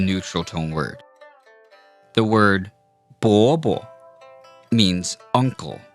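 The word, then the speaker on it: 伯伯: 伯伯伯伯伯伯伯伯 Now, notice we didn't say 伯伯 because that sounds like a second tone followed by a first tone. To make this neutral tone properly, you have to just let it kind of fall there.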